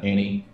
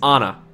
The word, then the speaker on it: Onna: name is not Mary her name is uh Annie it is not Annie nope it's Anna uh spelled with an O it's o-n-n-a sure it is the m is silent I swear to God I'm